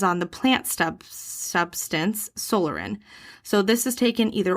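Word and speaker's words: psoralen: of light therapy and solarin it's spelled p-s-o-r-a-l-e-n solarin i'm thinking it's like pterodactyl and pneumonia okay p is silent right which takes uh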